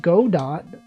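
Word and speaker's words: Godot: That's literally Go Dot. Speaking of go dot, um, Slay the Spire 2, that is in fact a GDO game that is available right now.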